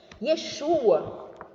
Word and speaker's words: Yeshu: Em aramaico, a grafia também é a mesma, mas no aramaico, a letra Ain não se pronuncia no final da palavra.